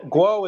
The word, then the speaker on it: Guo: to be here so guwow guo or however you pronounce his name has been arrested well guo is how he's guo is how he said it okay just for I